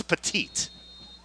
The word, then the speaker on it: Petit: look at last name people might think it's pettit like the the pitcher andy pettit it's petite and i want to